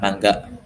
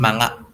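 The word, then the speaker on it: マンガ: Sekarang mangga kan, mangga. Dulu manga, manga.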